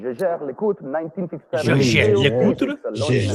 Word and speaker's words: Jaeger: Jaeger.